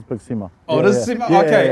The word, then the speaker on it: BigSima: Because a lot of people just say BigSima, but it is BigSima.